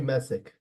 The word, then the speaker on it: Message: Is it Message or Messick? She told me Messick.